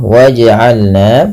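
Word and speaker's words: وَاجْعَلْنَا: Kemudian pelafal waj'alna, pantulkan bunyi suara pada lafal huruf jim yang berharakat sukun.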